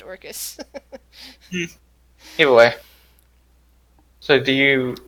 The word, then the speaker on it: Orcus: I keep pronouncing it as Oracus for some reason. I think it's just pronounced Orcus.